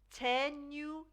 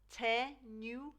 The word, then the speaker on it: tenho: Tenho de ir. Tenho de ir. I have to go. Tenho de ir. Now this H actually sounds like a Y. Tenho. So we split that up.